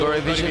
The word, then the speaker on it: Gorevisión: Oh, message for to Gorevisión. Gorevisión, Yes. How do you pronounce it?